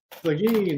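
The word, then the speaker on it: Seguin: whole another country has they sagin Sagen that's it s yeah that sounds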